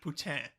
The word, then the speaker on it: poutine: And I think technically you're supposed to pronounce it poutine, but nobody does that.